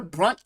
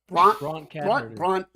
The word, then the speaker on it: Bronte: properly I said a brunt cat herder it's not brunt it's Bronte listen if you're if you're